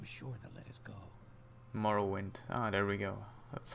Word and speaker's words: Morrowind: Morrow wind I'm sure the Let Us Go Morrow wind ah there we go that's how it's spoken quiet pronounced here comes the guard this is where